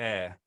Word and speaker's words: Ayr: Gail, I believe Gail it's pronounced Davidson. air.